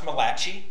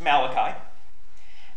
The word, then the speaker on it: Malachi: to the Book of Malachi it is not pronounced matachi I actually like pronouncing it that way because it drives people up a wall it's Malachi and it is the last book written in